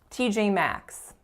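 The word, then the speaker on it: TJ Maxx: number 10 we have t.j.maxx t.j.maxx so three vowels and TJ Max and notice that they're all tense the first two are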